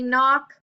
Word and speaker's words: knock: story book has a sneaky K and lastly knock that has a sneaky K also so these